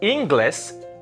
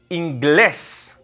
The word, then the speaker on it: inglés: It's not inglés because it's not on the I. It's on the E. So it's inglés.